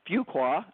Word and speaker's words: Fuqua: of the podcast today getting to know Suzanne Fuqua.